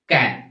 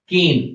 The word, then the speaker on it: can: It is milk can. अब यहाँ पे pronunciation ध्यान रखना. It's not cane, it's can, milk can, जिसमें वो दूध वाला दूध लेकर आता है, that is basically the milk can.